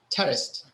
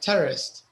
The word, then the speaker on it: terraced: Okay, and you have to be a little careful with the pronunciation, terraced, because if you don't, it sounds like terrorist, right?